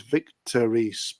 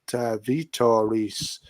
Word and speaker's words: Vitor Reis: I thought his name was Victor Reis, but Vitor Reis is him.